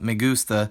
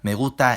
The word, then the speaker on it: me gusta: The correct pronunciations of those words are me gusta and Guadalajara, English allophones out, especially reduction, Spanish allophones and good pronunciation in.